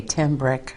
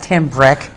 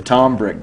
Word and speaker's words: Tim Brick: on stage somewhere and they announced me as a was at the Tom brick band it's an easy last name you know yeah that's what I always think too you know I mean in my name my whole name is two syllables long but average quite frequently